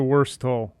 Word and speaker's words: Wurstle: me the hundo i think it was a worse toll worse toll yeah okay like the worst oh